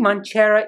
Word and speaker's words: Mancera: So, Mancera or Mancera? I don't know. So, I think Mancera is the correct pronunciation.